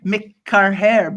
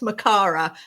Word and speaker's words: Makara: I want to say McCarhair, but I didn't pronounce it first. So I should have told you. I'm so sorry. It's pronounced Makara, which you couldn't possibly have guessed.